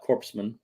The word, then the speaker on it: corpsman: Nova Prime, Centurion, Nova Primes are the highest officers, down to corpsman. Corpsman. I know There's no P or S. there is a P and an S. Not in the pronunciation.